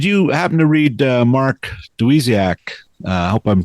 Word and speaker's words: Dawidziak: But, um did you happen to read Mark Dawidziak? Uh I hope I'm pronouncing his name Dawidziak. Dawidziak.